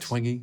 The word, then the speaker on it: Twenge: To talk generally about screen time and depression, Jean Twenge, is it pronounced Twenge?